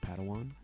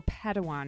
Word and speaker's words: Padawan: assigned a pad 1 to this bold Jedi pronounced Padawan Oh Padawan excuse me hey it's getting late I think